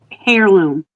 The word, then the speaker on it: heirloom: Heirloom. HEI, right? Heirloom. Technically, it's pronounced heirloom, but But it's with an yes, H. the H is silent, like I don't know, knife, if you will.